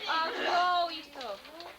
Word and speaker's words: arroyito: You tell them to go arroito. You have to roll your R's.